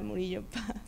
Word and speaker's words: Murillo: much yeah so um I'm marillopa or Murillo which is how you pronounce my name um I wanted to